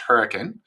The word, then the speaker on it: Hurricane: small Mormon Village uh um spelled hurricane but pronounced hurricane uh by those who live there uh my